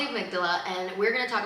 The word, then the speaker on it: amygdala: If you watched one of our old episodes, I used to pronounce amydala as amagglida for a really really long time. But it's called the amygdala.